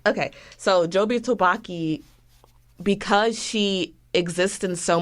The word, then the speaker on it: Jobu Tupaki: messed up that I don't know how to pronounce her name either. Her name is Jobu Tupaki or Jobu Topaki. Jobu Tabaki. Okay, so Jobu Topaki, because she exists in so many places at